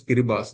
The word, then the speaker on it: Kiribati: So you can find that a country in Pacific Island, Kiribati, it is pronounced as Kiribati, though it is written as Karibata.